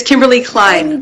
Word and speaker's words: Kimberlee Klein: the way from Vancouver Canada we have Miss Kimberly Klein on the call thank you OD did I pronounce it correctly it's Kimberly Klein yeah cine okay so I did say it